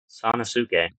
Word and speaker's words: Sanosuke: When I first saw this name, I was really confused on how you pronounce it, but they got to do it in the anime. Now I know. Sanosuke.